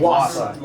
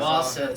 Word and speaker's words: Wausau: Wausau, that's how you say it? Wausau, yep. Wausau.